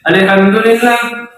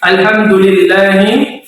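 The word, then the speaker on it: الْحَمْدُ: selalu dibaca dengan tartib dibaca dengan tipis Al alham Jangan dibaca tebal Al Al tidak ya tipis ya Al dan sukunnya jelas tidak boleh memantul Al Al tidak boleh Oke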